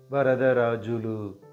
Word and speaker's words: Varadarajulu: this is how we pronounce the name vulu vulu saying it slowly now vulu presenting the meaning